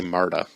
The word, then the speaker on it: Marta: and her name was i'm gonna say marta it might have been martha but it's spelt m-a-r-t-a